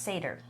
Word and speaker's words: seder: Sader no right well I just didn't know it was pronounced seder if that makes sense oh but you knew it was a Sader yeah I knew it was s didn't know how to pronounce it yeah yeah I was going to say like cider you still know what it